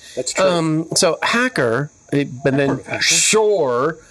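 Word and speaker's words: Pschorr: Um, so hacker, but then shore. P S C H O R R. Sure. You don't pronounce the P, right?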